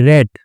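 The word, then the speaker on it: read: वन डे एक दिन, आई रेड, ठीक है, अब रीड नहीं पढ़ेंगे इसको क्योंकि कहानी पास्ट में चल रही है, तो रीड की सेकंड फॉर्म को स्पेलिंग सेम होती है लेकिन पढ़ते रेड है उस।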